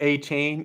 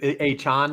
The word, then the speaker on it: Achane: Is it A chain? Is it Achane now? We were trying to we're all over the map here. So I would always pronounce it. So Achane is what sounds right to me, given right. where He I came grew out up. this week and said that wasn't right.